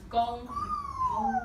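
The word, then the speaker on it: 弓: And it's pronounced gong.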